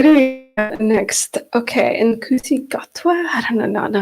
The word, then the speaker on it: Ncuti Gatwa: Ncuti. Gatwa.